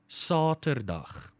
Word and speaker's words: Saterdag: Again, now that A is a long A sound, but you don't have to worry about it. If you just say Saterdag, that's good. That's good because we will understand. That's conversational Afrikaans for you.